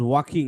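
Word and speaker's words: walking: One sunny day থাইগো ওয়াজ ওয়াকিং, এই ওয়াকিং এর কি বললাম আমি, যে এই এল আর খে, এল এর পরে যদি খেই থাকে তাহলে এই যে এল এর সাউন্ডটা কি হয়, সাইলেন্ট হয়ে যায়।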